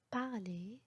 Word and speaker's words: parler: هنا le R est muet. Donc exemple pour ça, manger, parler, dessiner.